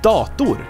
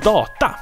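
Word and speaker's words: dator: but it's not then we have the biggest mispronunciation of all times the word is Dokdo which means computer in swedish and a lot of people like i mean a lot really a lot they say doctor dothis pl for instance for computer games or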